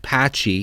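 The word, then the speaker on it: Pacci: Upon securing the fire element in this dungeon, alongside its horrifyingly named item, the cane of Patchy Patchy, it's pronounced Patchy, we receive the refurbished sword from the blacksmith, and we're off to fuse it with the elements ourselves.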